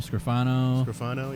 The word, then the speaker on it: Scrofano: I don't even know how to pronounce her last name. Sounds Italian. Scrofano? Yeah, Scorfano. Scrofano, yeah.